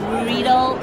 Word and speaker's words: Riedel: Riedel, like eagle.